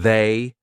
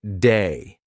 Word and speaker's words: they: The voiced TH, lots of English learners will pronounce it like a D. So instead of saying they, they'll say something like day. All right, so they went to the park might sound like they went to the park. So keep that in mind. It's not a D, it's they.